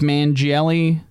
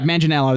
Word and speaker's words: Manganiello: Joseph Mangielli. Yeah, I don't think that's the right pronunciation. Mangelli. It's you know what I'm talking about. Manganiello? Yeah, Manganiello. That's it.